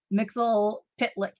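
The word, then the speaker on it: Mxyzptlk: Mixel Pitlick.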